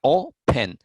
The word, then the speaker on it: open: Vean, open tiene dos sílabas, que sería open, pero la acentuación o la forma más fuerte de su pronunciación está en la primera sílaba, open.